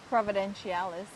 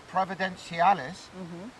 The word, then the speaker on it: Providenciales: I then left Puerto Plata, and about an hour later, 80 miles south of, how do you pronounce this place? Providenciales. Providenciales.